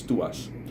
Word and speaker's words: TWS: 24/7 with us and which became twws and which pronounces to us now um there uh